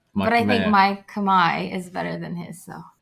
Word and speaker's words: Khmer: Khmer is how you pronounce it in Cambodian. Actually, it's how you pronounce it in Khmer. You say Khmer.